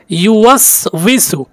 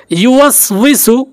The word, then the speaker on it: ইউওয়াসউইসু: এই আয়াতটি বলতে গিয়ে অনেকেই ভুল উচ্চারণ করে থাকেন, ইউওয়াসউইসু অনেকেই উচ্চারণ করতে পারেন না, তাই আমি বানান করে বলতেছি, ইয়া পেশ ইউ ওয়াও সিন জবর ওয়াস, ইউওয়াস ওয়াউজের উই, ইউওয়াসউই সিন পেশ সু, ইউওয়াসউইসু, ইউওয়াসউইসু।